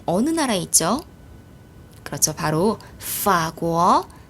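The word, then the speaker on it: 法国: 그러니까 앞에 있는 삼성을 몇 성으로 그렇죠? 반삼성으로 발음을 합니다.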